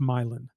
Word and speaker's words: myelin: It's pronounced milein. M y len. Milin.